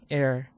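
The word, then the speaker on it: heir: kita melihat kata ini pengucapannya adalah ni h-nya tidak diucapkan nih gitu loh h-nya tidak diucapkan jadi diucap ee dibacanya adalah begini Eir nah sehingga kalau kita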